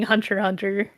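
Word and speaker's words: Hunter × Hunter: know I've been reading Hunter Hunter uh and I was interested in Hunter x Hunter it's it's not you don't pronounce the X but okay why is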